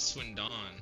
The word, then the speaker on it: Swindon: Is it actually Swindon? Like the D is silent?